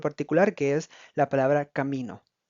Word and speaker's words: camino: Camino, camino. En este caso, como pueden escuchar, el enfoque principal, es decir, el acento prosódico, se encuentra en la sílaba mi, donde no lleva ninguna tilde visible, pero la palabra básicamente genera el impacto, genera la fuerza que le da el sentido a la palabra.